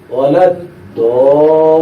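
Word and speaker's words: وَلَا الضَّالِّينَ: অতএব 4 আলিফ মাদ উচ্চারণ করার পরে এই দদ ধরবে লামকে।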